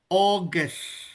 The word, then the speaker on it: August: Ahmad, when you mention about eh Augustus in English. Nah, we pronounce it as August. Augus. There you go. So anything anytime we pronounce au in English mostly we pronounce it as o.